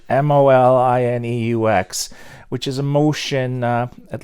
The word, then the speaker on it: Molineux: So the first motion was something they call we've been calling it Molinex because we can't pronounce it. Molyneux, if you're French. Molineux, which is a motion,